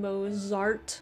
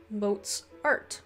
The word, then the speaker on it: Mozart: because i was saying mozart you know and pronouncing the z in it the german pronunciation apparently is more of a ts so i had some